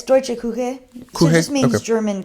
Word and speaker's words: Deutsche Küche: Can you pronounce that? Because I couldn't. Yeah, it's Deutsche Küche.